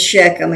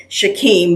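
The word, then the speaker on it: Shechem: Now, Jacob came safely to the and I'm going to pronounce this Sheckchum. you know, it's probably Shaim, but that always reminds me of Shaquille O'Neal.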